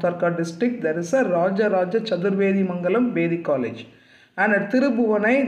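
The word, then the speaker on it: Rajaraja Chaturvedimangalam: People listen to the pronunciation. It is Rajaraja Chadurvedi Mangalam.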